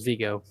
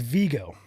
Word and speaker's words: Vigo: So, but I always thought that was Vigo. Vigo. Okay, I'm saying it wrong then. So I gotta change my way. So it's Vigo.